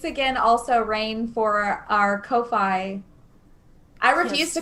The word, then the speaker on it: Ko-fi: also rain for our kofi i refuse to call it kofi by the way it's ko fi yeah you know yeah so in my mind it's like lo-fi ko-fi so yeah i will